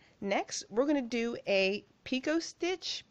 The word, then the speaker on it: picot: stitch and two next we're gonna do a picot stitch peacott stitch P ico T stitch I always mispronounce it so we're gonna do that next